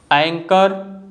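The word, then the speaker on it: anchor: Chemistry, एको, take, एंकर, psycho. जो आदमी crazy यानी पागल होता है उस आदमी को हम साइको कहते हैं। तो इन सभी वर्ड्स में जो लेटर एच है ना, यह साइलेंट है।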